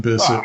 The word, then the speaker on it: Bisset: let's face it jacyn Bisset rhymes with kiss it please please and uh